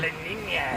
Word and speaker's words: La Niña: La Niña. Yes, you should always say it like that.